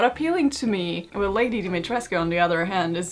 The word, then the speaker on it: Dimitrescu: to pronounce the name but I'm gonna stick with the Romanian pronunciation since it's all Romanian inspired so I'm gonna stick with what Romanians have to say though So it's Lady Dimitrescu to me She's a nine foot